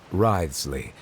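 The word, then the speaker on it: Wriothesley: personal dealings with the administrator of the Fortress ryley he's a very shrewd fellow rides Le so that's how it's pronounced yeah he's a character I wanted as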